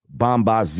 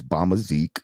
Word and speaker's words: Bombazik: So for the longest time, y'all been hearing this man talk about Bombazi, even though I told him it's Bombazik. He's been saying it wrong.